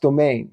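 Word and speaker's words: demesne: demen D de M NS e but it's pronounced domain so those people under the mean Lords would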